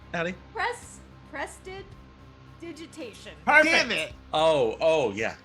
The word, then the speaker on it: prestidigitation: pronounced, Addie? Prestidigitation.